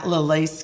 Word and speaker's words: LALAIS: No, the S is silent. LALAIS.